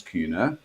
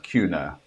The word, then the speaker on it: Kühne: people pronounce it is it's like tuna with a K so that's the easiest way of pronouncing Cuna yeah well there's a